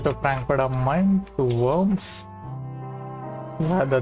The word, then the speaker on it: Worms: Frankfurt am Main to Worms. Yeah, the name is very funny, but it's actually not pronounced Worms, it's pronounced Worm.